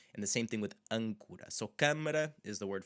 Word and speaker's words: âncora: So âncora is an anchor. Âncora, âncora, câmara. So these, again, happen to have N's and M's after them, and a lot of them do, I will admit.